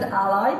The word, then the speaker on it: ALLi: We pronounce it ally because we see ourselves as a self-publishing ally.